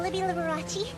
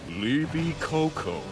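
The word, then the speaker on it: Libicocco: say to Earth Mr Libby larachi your pronunciation deeply offends me liby Coco say it like liby coconut try again just know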